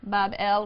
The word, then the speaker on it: Babel: So the grateful gods now uh um recognize the sovereignty of Marduk and they build him a magnificent shrine or temple in Babylon pronounced Babel which simply means gateway of the god the gate of the god.